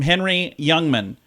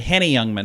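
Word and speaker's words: Henny Youngman: here's the quote from Henry Youngman I'm sorry Hannah Youngman is how you say it Hannah Youngman very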